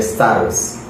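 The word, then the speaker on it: σάρξ: En griego la palabra carne se escribe sars.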